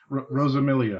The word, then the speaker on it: Rosamilia: Today we have Rosamilia. Hopefully that's pronounced that correctly. Nope. Oh. Rosamilia.